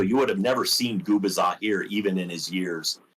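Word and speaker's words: Gubicza: And um, my brain says Gabisa, but apparently it was Gabbaza. No, Gubaza. Gubaza. See, I got it wrong. It's not an easy name.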